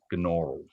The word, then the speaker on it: Gnaural: So the program's called, I think it's pronounced Gnaural or Gnaural. I'm not quite sure.